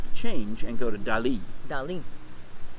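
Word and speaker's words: Dalí: you say it yes salvador dali because i mean i've always said dolly like hello dolly hello dolly yeah i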